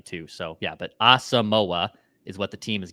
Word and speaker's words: Asamoah: But there's like a wave of people this week that are saying it's Asamoah. No. Brian Asamoah. Until the Vikings say otherwise, we're going to go with their pronunciation, Asamoah.